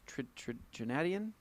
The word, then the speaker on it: Trinidadian: It's Trinidadian. I'm not even Trinadian?